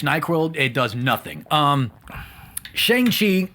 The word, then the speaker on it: Shang-Chi: it does nothing um shang chi came out as how some people pronounce it but kevin feige pronounced it shengshi are we that we